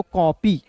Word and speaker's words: copy: पी है तो प, और अंतिम में जब भी आपको वाई दिखेगा, अंतिम में जब भी आपको वाई दिखेगा तो उसका उच्चारण ई के रूप में करेंगे, तो क्या हो जाएगा दोस्तों? कॉपी।